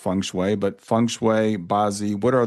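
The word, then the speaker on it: feng shui: We I mentioned I think it's pronounced funue, but funue basi. What are those things? Oh, and pronunciation is fine. Everyone get gets it wrong. I say funue, which is close to the Cantonese, but I mean I I'm no speaker of Chinese.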